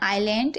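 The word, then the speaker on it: aisle: और यहां पर देखिए आइल में भी एस को नहीं पढ़ा जा रहा है और यहां पर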